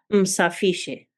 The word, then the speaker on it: msafishe: The last letter, the a, is replaced with an e, and this is pronounced msafishe.